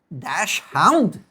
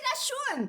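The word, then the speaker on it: Dachshund: There's no way to dash hound. Dash. It should be dashon.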